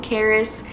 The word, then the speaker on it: Karis: So I push and baby A finally comes out, and that is Karis. That is how you pronounce his name, Karis.